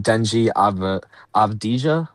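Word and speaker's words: Deni Avdija: Portland beats the Suns 114-110 behind 41-point performance from Denji Avdija, I believe is how you say it.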